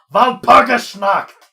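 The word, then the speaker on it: Walpurgisnacht: Yes, which they say Valpurgis Night, and I just yelled at it, Valpurgis Nacht! If you're going to use the German witch's Sabbath, pronounce it properly.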